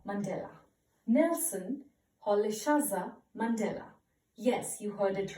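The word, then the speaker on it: Rolihlahla: how will you pronounce it okay the correct pronunciation is Nelson Polly shaza Mandela Nelson Polly salsa Mandela yes you heard it right now you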